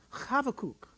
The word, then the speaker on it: Habakkuk: And then the buh in Habakkuk is actually a V. So it's pronounced Habakkuk. All right.